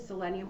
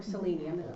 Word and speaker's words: selenium: in the toner now you use selenium or selenium pronounced either way and that toning is